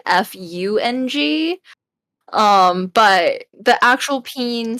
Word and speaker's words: Feng: Well, if you say it in, I guess, how you would as a Chinese person, it would be pronounced Feng, which is, I guess, if you spell that in English, it might be Fung.